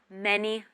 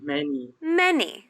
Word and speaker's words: many: you can say how many members are there in your family remember how in the family out how how many many many many remember the stress is on the first syllable many many members